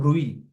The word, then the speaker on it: bruit: feel it like a bruit. T is silent.